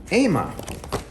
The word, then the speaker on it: AIMA: The company that makes them, and I hope I'm pronouncing it right, is AIMA.